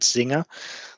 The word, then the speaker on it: Czinger: If you're interested in that sort of area, Julian, it's probably worth looking up a vehicle called Zinger. It's spelled CZINGER.